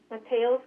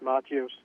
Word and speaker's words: Mateos: Mateos, you are now unmuted. Can you please state what agenda item you're calling on? It's pronounced Matios, 6B, 6A, and oral communication in that order.